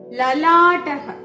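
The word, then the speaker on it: ललाटः: വാർ അടുത്തത് ല വെച്ചിട്ട് ലലാടഹ ലാട്ടഹ നമ്മൾ നേരത്തെ പറഞ്ഞിട്ടുണ്ട് ലയുടെ ഉച്ചാരണം ല ആ ശബ്ദം പൂർണമായിട്ടും വരണം അപ്പോ ലാട്ടഹ എന്ന് വേണം ഉച്ചരിക്കാൻ ലാട്ടഹ നെറ്റി ഫോർഹെഡ് അടുത്തത് വെച്ചിട്ട്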